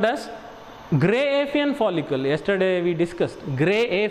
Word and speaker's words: Graafian: You can call Graafian, but correct pronunciation is gray Apheian follicle.